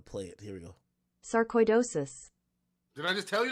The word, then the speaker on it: sarcoidosis: KB's initial hospitalization stems from a diagnosis of Sarco idosis definitely I'm up that word